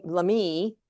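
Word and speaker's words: Lamy: Um so but in 1850 the uh the Catholic Church sent a bishop Bishop Lame Lamei is the way that's pronounced Bishop Lameie.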